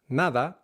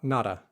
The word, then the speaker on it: nada: Same goes with a word like nada. Nada, not nada.